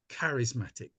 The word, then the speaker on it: charismatic: Well, it's pronounced with a K, like it's a hard CH, so it should be charismatic, but only a small thing.